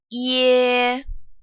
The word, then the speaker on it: ye: This compound final is ye, ye. It starts off as E, and then it gets into E, like egg. Ye.